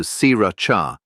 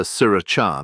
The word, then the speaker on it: Sriracha: In Thai pronunciation, the word sounds closer to Sriracha than the sharper Sriracha many English speakers use today.